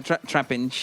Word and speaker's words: Trapinch: My aim is to avoid as much as possible the damage of the trench pinch, if I'm pronouncing correctly. Yeah, trapinch.